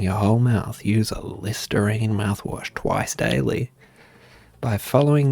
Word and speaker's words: Listerine: me all right it's listerine bold routine i like how routine rhymes with listerine too a bold guide to